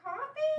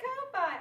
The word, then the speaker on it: Ko-fi: It's pronounced coffee? Yeah. I thought it was Ko-Fi. I've been saying it wrong.